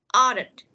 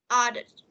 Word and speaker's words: ordered: Ordered. Order. Ordered. Order. Yeah, ordered. Không phải order nha, ordered.